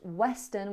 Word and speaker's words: Western: I pronounced Western with a perfect w.